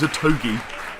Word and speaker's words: Otogi: And that is Otogi. That is how you pronounce it, isn't it? We checked. Otogi. Otogi. Otogi. Otogi. O-to-gi as in geese.